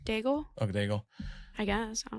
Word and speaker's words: Daigle: Daigle.